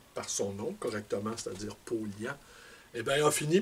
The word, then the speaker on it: Paulhan: Paulhan, ben, on prononce Paulian.